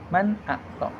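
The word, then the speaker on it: مَنْ آمَنَ: Cara bacanya itulah seperti ee man a ya man a th. Nah, jadi di sini yang dibaca jelasnya itu adalah suara nun sukun ketemu hamzah itu dibacanya dengan suara yang jelas. Suara murni dari suara nun mati.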